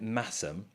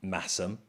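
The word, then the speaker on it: Masham: You've got 50% blue-faced Leicester, 25% Massam. Remember, you don't pronounce the H in Massam, one of those weird, UK things.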